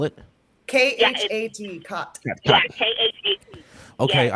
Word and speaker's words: khat: And can you spell it? Khat. Khat. Yeah, Khat. Okay, Yes. I think I've tried this. I thought it was called Chet.